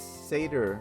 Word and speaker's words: Sader: Chip says, "Sader rhymes with hater."